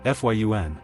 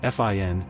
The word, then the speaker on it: Fionn: Pronounced Fionn, sometimes Fin in English settings.